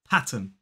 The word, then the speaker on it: pattern: number eight this one pattern two syllables stress on the first P Pat and then